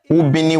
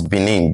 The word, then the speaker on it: Benin: While for the word Benin, Ubini was the original word. Ubini was mispronounced by the earliest Portuguese as Benin. They removed the U and they wrote B-I-N-I, Benin. So in 2006, the father